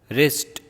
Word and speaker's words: wrist: When we speak the words, W will not be pronounced. Answer, sword, two, hole, rack, rep, wrist, wrinkle, rack and ran.